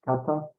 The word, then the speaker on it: kata: Well, there's like several words that are pronounced kata, but this kanji in particular refers to form.